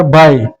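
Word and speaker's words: baik: तो वहां से आपको जवाब आएगा के खबर बाय। ठीक है? खबर बाय। ये बाय में के साइलेंट है।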